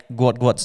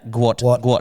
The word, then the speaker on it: Gout: So, does that make Guat's name Gu first name and last name is the same? I I'm going to go with a yes on that. Sorry. There you go. Sorry for calling you Gout Gout.